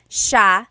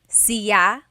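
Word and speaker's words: siya: It's sha sha. The s i y combination makes the sh sound in tagalog. Some regions say sya but in the Luzon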